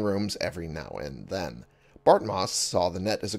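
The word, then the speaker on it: Bartmoss: arsenal talking is hard before botmos bart moss i said it right before bart moss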